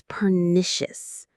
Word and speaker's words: pernicious: The effect is pernicious. Let's break that down. Pernicious. What a word. It sounds a little bit like vicious or malicious and it's in the same family of negative ideas.